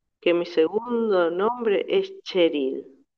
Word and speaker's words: Cheryl: Preguntándome cuál sería mi nombre, pensé, me pregunto si Prabhupada sabrá que mi segundo nombre es Cheryl, que se pronuncia como la Che de Chile, la CH de Chile.